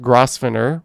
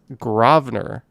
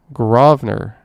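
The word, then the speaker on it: Grosvenor: correct pronunciation is not gross finner or gross winner the correct pronunciation is gravener there we go grovner let's say it three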